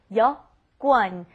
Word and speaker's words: 여권: And that's that important vocabulary word that apparently seems very hard to pronounce. So here we go. 여권.